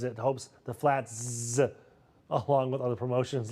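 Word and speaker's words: Flatz: The chain announcing a $5 crafted flats pizza. It's spelled F L A T Z. I think I have to emphasize the Z's.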